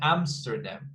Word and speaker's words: Amsterdam: 3 syllables, we've got the stress in the first one. So Amsterdam, as you can see at Amsterdam.